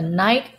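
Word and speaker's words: knight: and here's another rule when k letter k is followed by a letter n like this K is silent so we do not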